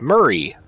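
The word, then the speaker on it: Mhairi: How the fuck are you even supposed to pronounce that name? It's Murray.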